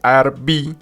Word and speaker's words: Arví: Bueno, entonces les cuento, el Parque Arví, lo he estado pronunciando mal, pero se dice Arví, es un parque público abierto de 1.761 hectáreas de bosque, pertenecientes a la reserva del río Nare.